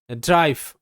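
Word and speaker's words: drive: ড্রাইভ, ডি আর ডয় র, draw sound, I এর পর যেহেতু একটা কনসোনেন্ট, তারপর ভাওয়েল ই আছে, আই এর উচ্চারণ আই হবে, সেই একই প্যাটার্ন ফলো করছে, তাহলে ডি আর আই ড্রাই, ভি তে ভ ড্রাইভ, ড্রাইভ, মানে গাড়ি চালানো, এগুলো একটু পড়ে রাখবে।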